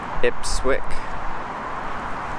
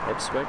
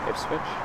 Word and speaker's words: Ipswich: would understand South enough ipswick yeah I know I keep pronouncing it wrong Ipswich Ipswich anyway so oh damn Ipswich it sounds like okay which switch okay you need